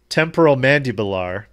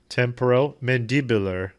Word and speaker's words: temporomandibular: Now, my prediction is temporal mandibular. I know that's wrong. Looking at how to pronounce these words, uh-huh, as well as how